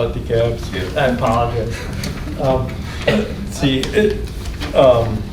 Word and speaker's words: DeKalb: Yeah, we call it DeKalb, but I know in Georgia they call it DeKalb.